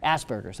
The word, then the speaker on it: Asperger's: blind I'm deaf I have a spur is Asperger's Asperger how do you say it properly Asperger's okay very well so I mean teach them